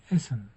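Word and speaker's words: Essen: Esen yemek diyoruz. Burada çift s var. Bunu da tek olarak okuyoruz.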